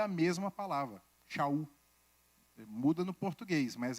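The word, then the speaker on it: שאול: Mas aqui, talvez a pronúncia de Saulo fosse mais difícil, para quem não fosse hebraico, é Shaul, aí falava Paulo.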